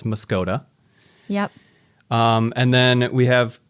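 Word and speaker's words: Muscoda: Muscadet is definitely not pronounced the way it's spelled. I would definitely say that's Muscota.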